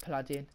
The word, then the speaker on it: Paladin: Pronounced Paladin.